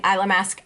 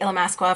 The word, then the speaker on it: Illamasqua: calling it ila mask I like saying eylem ask better than Allah mask wa but I'll say Illamasqua for the video because that's how you're supposed to say it this is a gel